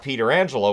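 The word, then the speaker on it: Pietrangelo: the Vegas golden but his Uncle Frank pronounced it Peter Angela when he played for the Penguins and then the Whalers so it's one of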